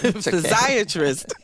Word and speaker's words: physiatrist: the show and now I'm recognized I've been mispronouncing your title and it is physiatrist Dr Beverly Roberts at water thank you so